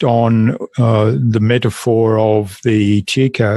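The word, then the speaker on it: Tjikko: the metaphor of the Chico. Is it the Chico tree or Tico tree? How do you pronounce it? Choko tree. Yeah.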